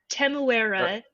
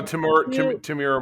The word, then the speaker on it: Temuera: We've got however his name is pronounced, Temuera Morrison. Tamira Morrison.